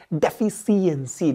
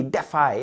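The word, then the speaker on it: deficiency: डेफिशिएंसी, डेफाई, ऐसे याद रखो, डेफाई। हालांकि डेफाई वाला प्रोनाउंसिएशन बिल्कुल भी नहीं है, डेफिशिएंसी इज द वर्ड।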